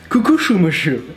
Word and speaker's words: Kukuxumusu: It's kind of remind me of this Spanish brand, Cucuchumushu, which is like written Kukuxumusu. Kukushumushu.